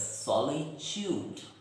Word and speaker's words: solitude: And when pronouncing this word, we must remember that in British English it is pronounced as solitude. Just listen carefully. It is pronounced as solitude, but Americans pronounce it as solitude. Solitude. So, a little different, but yes, both are correct.